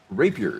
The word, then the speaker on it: rapier: know what that thing is it's uh Rapier Rapier is how that that's pronounced a lightweight and high speed sword good